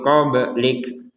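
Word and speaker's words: قبلك: Unzil min qablik, ba yang sukun di sini bacanya dengan qalqalah kalau namanya itu. Jadi dibaca dengan pantulan. Qablik jangan dibaca tanpa pantulan.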